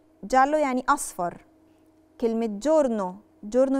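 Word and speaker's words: giallo: بننطقش ترقيه مثال عليها كلمه جالو لو بصيتوا معي جال لو فيها ايه بس مش هننطق الايه علشان جه وراها الفوكال فبننطقها جلو جلو يعني اصفر كلمه جورنو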